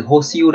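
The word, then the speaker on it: 保守: Từ này là từ hô siêu đây, à quên, âm Hán của nó là từ bão và từ thủ.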